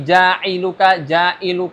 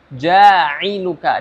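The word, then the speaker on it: جَاعِلُكَ: ada penekanan di situ contohnya jadi jauka ya kalau seperti itu malah seperti nanti jadi seperti huruf hamzah atau huruf alif ya Ini huruf Ain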